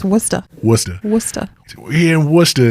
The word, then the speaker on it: Worcester: It's not said like it's spelled. No, it's like, It's definitely not also pronounced makes- Worcester. It's pronounced Worcester.